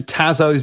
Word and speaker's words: Tazos: are these pogs and you go no they're tazos tazos tazos I how you pronoun them sorry no it's tazos because theyve got Tasmanian devil on them yeah